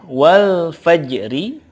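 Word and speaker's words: والفجر: Contoh berikutnya, wal fajri, ketika waqaf cara bacanya adalah wal fajr. Wal fajr. Yang pasti bukan wal fajr, bukan. Atau wal faj saja, tidak ada ro-nya, enggak. Tapi ada ro-nya, ro-nya di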